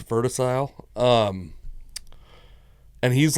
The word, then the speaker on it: Verticile: It's like vertical but it's verticile. So instead of cle it's c i l e. Yeah. So I think it's verticile.